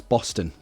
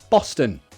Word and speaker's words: Boston: How to pronounce Boston? Boston.